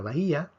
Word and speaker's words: bahía: sobre la vocal cerrada entonces en la palabra bahía tenemos tres sílabas ba y aquí tenemos entonces un hiato resumamos lo que hemos